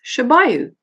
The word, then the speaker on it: Shabayu: Now, his name was Shabayu. So he said, Miranda, just think of a shoe by you.